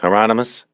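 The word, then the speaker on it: Hieronymus: He looked at Bosch through the camera and said, "Remember the promise, Heronmus. Rhymes with anonymous," Bosch said.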